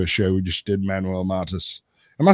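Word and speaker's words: Manuel Mata: you have you a show we just did Manuel mantis am I saying that right say your name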